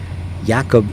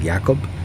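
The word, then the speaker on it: Jakob: stuff is on his YouTube channel so it's yakob j a k o b you'd think it was spelled Jacob but it's actually called pronounced yakob so yakob C like j a k o b space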